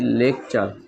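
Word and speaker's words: lecture: থাকলে তারপর ইউ থাকলে টিউ এর টি এর উচ্চারণ চ এর মত হয় যেমন আমি যদি ফর এক্সাম্পল লিখি লেকচার এল ই সি টি ই আর ই টি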